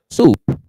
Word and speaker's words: soup: Não confundir com a pronúncia de soap. Se vocês confundirem a pronúncia, certamente não vão confundir o gosto. Soup, sopa, soap, sabão. Qual o problema? É que como em português, esse O da nossa soup é mais próximo do O de soap, da palavra sabão em inglês. Ai, a gente tem uma tendência danada para pronunciar errado.